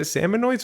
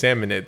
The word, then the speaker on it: Salmonids: Is it salmonoids or salmonids? I think it's salmonids.